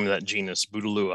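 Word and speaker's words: Bouteloua: name of that genus budalua at least that's how i've heard it pronounced side oats grandma another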